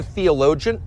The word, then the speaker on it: theologian: Theologian. Let's pronounce it together. Theologian. Theologian. So we don't say theologian, we just say gen.